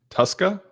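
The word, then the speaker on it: Tuszka: T22 says it's pronounced Tuska, like a Tuscan Raider without the N.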